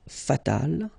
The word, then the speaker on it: fatal: And then fatal, feminine form, you just add this final but then phonetically it's the same, fatal.